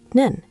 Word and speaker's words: 는: The topic markers are 은, spelled un and ra, pronounced un, and 는, spelled nun and ra, pronounced nun.